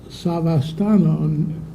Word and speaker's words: Savastano: It is Savastano, no L.